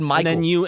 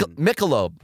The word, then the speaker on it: Michelob: So you laughed at me over my pronunciation. I laughed because you said Michael. And then like a male's you name. weren't confident in your own pronunciation. It's Michelob.